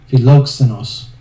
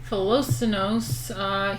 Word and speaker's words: Philoxenos: How to pronounce... Oh, jeez. Philoxenos.